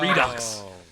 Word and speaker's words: Redux: costuming was done because it spelled re do X red ox but she pronounces it redux I love that I